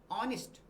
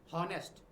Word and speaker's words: honest: देखिए फिर वही बात करते हैं अपन, ऑनेस्ट नॉट हॉनेस्ट। ये एच जो है यहाँ पे ये साइलेंट है और इसका जो प्रॉपर जो इसका प्रोनाउंसिएशन जो होगा ना वो होगा ऑनेस्ट।